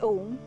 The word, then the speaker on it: Om: This universal sound is a combination of three syllables, A, U, and Ma. When we pronounce Om, as we say A,